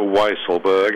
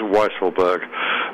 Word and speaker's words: Weisselberg: note on mr weisselberg it is a weisselberg as in wise uh it's not the more tempting weasel which is i know